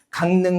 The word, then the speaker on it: 강릉: 강릉 같은 경우도요. 지금 이응 다음에 리을이 왔는데 그때 리을이 뭐로? 니은으로 발음되는 거죠. 그래서 강릉 이렇게 되는 거고요.